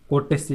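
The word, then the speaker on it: courtesy: यहाँ पर ये क्या है, वोवल है, यहाँ से आर आ गया तो यहाँ पर आर साइलेंट है, तो इसका जो प्रोनाउंसिएशन होगा वो क्या होगा, कोटेसी। क्या होगा, कर्टेसी।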